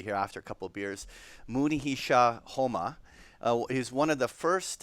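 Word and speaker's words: Munehisa Homma: trader this Mooney he shot so I'm gonna pronounce it properly here after a couple beers Mooney he Shaw Houma he's one of the first and one of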